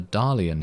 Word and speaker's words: Dalian: of course we have sir Dalian here which rhymes with salient so I would assume